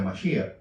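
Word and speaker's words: משיח: Cuando hablamos de Cristo, en hebreo se pronuncia Mashiach, el Mashiach, que en castellano le decimos Mesías, y en griego es ungido.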